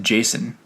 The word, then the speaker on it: JSON: I think I used to pronounce it Jason, like the name Jason. Oh, really? I've only ever heard it called JSON.